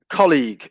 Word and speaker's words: colleague: is yeah college but the stress is always on the first syllable colleagues um and there